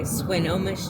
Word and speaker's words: Swinomish: Okay, Swinomish tribe is how you say that one.